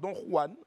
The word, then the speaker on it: Don Juan: On en parle, Don Juan, on en parle pour garder donc la prononciation espagnole.